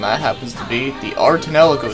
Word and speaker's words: Ar tonelico: happens to be the art in El Arco series yes not our eternal eco art Anela code before I knew how to actually pronounce it that's what I used to think it was and we're gonna take a